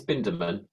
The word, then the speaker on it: Bindemann: It's Bindemann.